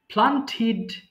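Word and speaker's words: planted: প্লান্ট রোপণ করা প্লান্ট প্লান্টিড প্লান্টেড আমার সাথে বলবেন হ্যাঁ আমি যেভাবে বলছি প্লান্টেড বললে প্লান্টিড বলবেন হ্যাঁ আমরা জানি টিডি থাকলে আমরা টিড উচ্চারণ করি সো প্লান্টিড এরপরে বলেন তো সবাই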